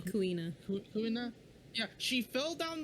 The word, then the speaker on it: Kuina: His motivation to do so is because his rival, Kunia? Is that how you say her name? Kuina.